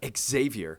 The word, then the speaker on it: Xavier: and then they're like they kept calling him Exavier and they're like dude my name is Xavier it's not Xavier you don't say xylophone